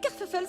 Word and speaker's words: Kerfuffle: Kerfuffle, c'est moi. Ça s'écrit comme ça se prononce, avec deux f pour le feuf.